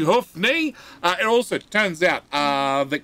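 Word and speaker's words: Hoofknee: Please good say g'day, mate, to my good friend, Hoofney. It is pronounced and spelt H-O-O-F-K-N-E-E.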